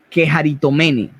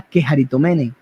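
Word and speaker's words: κεχαριτωμένη: Y aquí le da una palabra que en el griego es la quejaritomene, que significa la llena de gracia, la quejaritomene.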